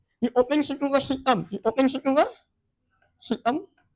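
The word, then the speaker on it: caecum: It opens into a cecum. It opens into a cecum. C-A-E-C-U-M. C-A-E-C-U-M. It is pronounced as cecum.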